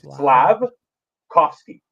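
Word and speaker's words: Slafkovský: It's instead of saying like a slab, like a wooden slab, change the B for a V. So it's Slavkovsky. Just say Slavkovsky. Kofsky. cough, Slab. like slab, cough, ski.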